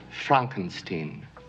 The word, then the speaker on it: Frankenstein: a man named Victor Frankenstein my name it's pronounced Frankenstein on the Upper Floor is Sarah although it